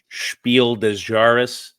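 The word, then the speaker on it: Spiel des Jahres: it no wonder this thing won the 2011 spiel dejaris yeah did I pronounce that right perfect spot on but yeah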